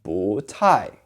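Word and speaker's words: 不太: 不 by itself is said with a fourth tone. But when it's in front of another fourth tone like 太, it becomes a rising tone. So 不太. 我不太喜欢 is how you say it.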